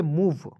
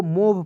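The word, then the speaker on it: move: व ई क्या पढ़ेंगे मूव अब देखिए बहुत लोग क्या है कि एम ओ भी ई को मोव पढ़ लेता है मोव नहीं पढ़ना दोस्तों इसे क्या पढ़ना है मूव क्लियर उसके बाद देखेंगे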